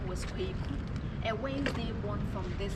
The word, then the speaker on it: Kweku: And after he was ordained, they baptized him and gave him a Christian name Philip, then mispronounced the local name Kweku to Kwaku, making it Philip Kwaku.